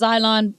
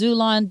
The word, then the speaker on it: xylon: Sometimes it's pronounced xylon, sometimes zulon, but that word, it